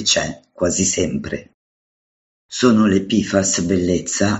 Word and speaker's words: PFAS: verità nascoste pifas quotidiane la sigla pifas è quasi carina almeno una volta che hai smesso di parlare con et Beta e rinunciato a pronunciare la F subito dopo la P il nome intero te